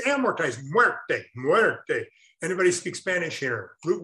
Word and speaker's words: amortized: doctor now so amortize is the second most mispronounced it's not a motorized or amoretized it's amortized anybody speak spanish here flute word they what's